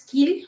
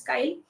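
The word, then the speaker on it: Keil: If if the team cannot recollect Kai some some people call it as Kil but the correct pronunciation is Kai.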